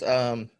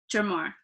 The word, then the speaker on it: Germar: It's Germar. Gemir Hala. I'm joking. I'm totally messing Okay. with you. It was good because I can see your face. You can't see mine. It's Germar. Germar.